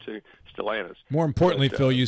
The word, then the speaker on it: Stellantis: Is that how they pronounce that? What Chrysler changed their name to? Stellantis.